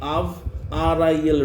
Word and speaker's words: Avril: A-V, Av, R-I-L, Ril, Avril.